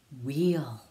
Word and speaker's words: wheel: Now WH sounds like W, like wah, and the H is silent.